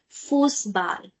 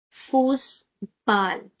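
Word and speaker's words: Fußball: So this asset has sound of double S and we can write it as this example football. Now football in German is called forcebal. Force ball. We can write it in this way.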